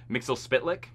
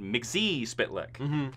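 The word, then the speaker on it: Mxyzptlk: Supergirl CW likes to change the names just because they trained uh Mixel Spitlick, which is actually how you say it, but in their universe, they called it Mixie Spitlick, you know.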